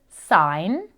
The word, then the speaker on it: sign: Can you hear the N sound at the end of sign? S sign. S sign. Excellent. So sign, gnome, and nat all use the N sound.